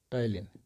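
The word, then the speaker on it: ptyalin: अब हम आते हैं इम्पॉर्टेंट पॉइंट पे, दैट इज टाइलिन। ये पी साइलेंट है, इसको हम सल्फोनिक एमाइलेज भी कहते हैं।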